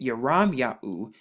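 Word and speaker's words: ירמיהו: you piece it together you have the yard right here which makes the y sound the rash which makes the r sound the mom which makes the m sound and then the yahoo right here the yod the hey and the u so when you put it together you get your ram yahoo your ram yahoo and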